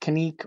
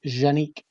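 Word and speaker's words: Canik: using genex they're actually a lot of people pronounce it connect or Kanak but I actually talked to boar angel who is actually from Turkey and he told me the proper way to pronounce it is actually genique so here in Texas you're not gonna convince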